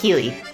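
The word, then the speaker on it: Keighley: GF uh how do you how do you pronounce his last name again? Jeff Keley. Jeff Keely.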